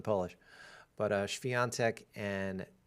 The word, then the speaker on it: Świątek: I swear everyone in the United States says Swiatek, and that's just like way off. Apparently there's no W in Polish. But Świątek and NIEMEIER, like John Mayer.